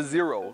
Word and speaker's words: XERO: bridge Japan Canada with brids newest seat the zero so zero is spelled Tec CRO and is bridged newest seat